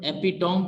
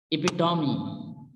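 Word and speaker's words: epitome: इसी तरह से अनदर वर्ड है एपिटॉम, पढ़ते हैं हम, जो कि मिस प्रोनाउंस है। करेक्ट प्रोनाउंसिएशन इसकी होगी इपिटॉमी, इपिटॉमी, इपिटॉमी।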